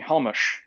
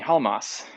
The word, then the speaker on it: Halmos: So von Neumann, Erdős, and Halmos Halmas in this automathography, by the way, says that no, don't call me Halmush, call me Halmas.